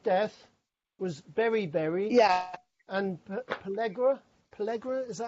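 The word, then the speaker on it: pellagra: And Pellegra, is that how you pronounce it? Pellegra, yeah.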